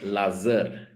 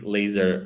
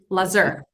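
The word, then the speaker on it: Lazăr: Okay, so so my name is not actually Lazar. Okay. Laz. Then there's a letter that is very specific to Romania, and then R, and that letter is and so you pronounce my name Lazar.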